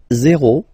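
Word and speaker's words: zéro: Zero. Zero. Okay, so remember, you get this z and then e accent aigu, zero.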